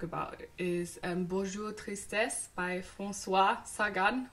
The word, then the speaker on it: Françoise Sagan: is ambushed Orestes by force wat Saigon Wow French pronunciation on point and which was published